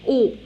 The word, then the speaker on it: haut: Très haut. Très haut. Alors, AU, je la prononce comme O.